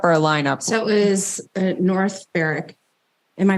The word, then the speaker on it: North Berwick: So it was North Berwick. Am I pronouncing that correctly?